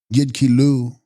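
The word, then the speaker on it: yid lus: upon the thought body text yidkilos pronounced yidkilu mental body desire body or thought body.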